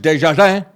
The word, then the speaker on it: Desjardins: PBS reporter Lisa Desjardins, or if you're French, Desjardins, that's how they say it, Desjardins.